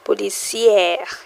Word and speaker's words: policière: Policière is how you pronounce it. Policière, policière.